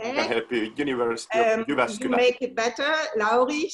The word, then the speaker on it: Jyväskylä: And I think I cannot pronounce the name of the university, Jyväskylä. I help you, University of Jyväskylä.